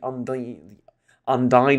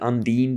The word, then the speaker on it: Undine: A 2,000 star galaxy I have ran with the Borg, I think, the Undyne or the Undine, depending on who pronounced it which way.